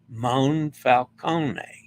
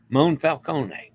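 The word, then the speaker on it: Monfalcone: A reminder to pronounce the O as oh no, and then open A as ah, as in father. Moonfalcone. All right. Moonfalcone.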